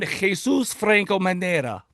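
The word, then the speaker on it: Jesús Franco Manera: born Jesus Franco Manera and that's the proper pronunciation by the way Madrid Spain on May 12th 1930.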